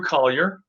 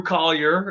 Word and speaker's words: Colyer: think call your mom think call your dog and then say collier and then you'll get